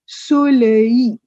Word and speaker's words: soleil: Il fait du soleil. Simple, soleil. The last l is silent.